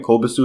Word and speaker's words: Kobasu: Kobasu is how you say his name.